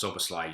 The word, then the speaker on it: Szoboszlai: I think it's pronounced Szoboszlai. You forget the S and you pronounce it like that.